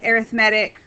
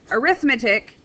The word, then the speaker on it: arithmetic: That's why I am using the pronunciation arithmetic rather than arithmetic, which is a math, meaning for math and doing computations.